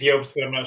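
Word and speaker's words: Jobst: to pronounce his name i think it's jobs okay j-o-b-s-t i'll post the link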